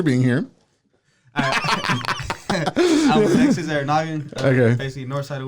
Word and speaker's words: Arranaga: I was Alexis Arranaga. Okay. Basically north side of Waco. I thought it was Arranaga. They corrected me. It's Arranaga, but okay. In the U.S. we don't have the enya, so it's you gotta I have the enya.